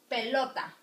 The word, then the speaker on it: pelota: accents in the vowels words that end in ns or above you are usually stressed on the next to last so we have pelota you see pelota it sounds in lot that's why it's marking